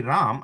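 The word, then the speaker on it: राम: Whereas if I write in Sanskrit, if I do want to say Ram, I would say it like this and you can see the difference in the I cut off the consonant here. So it's Ram. This is the true Ram. Whereas this is Rama.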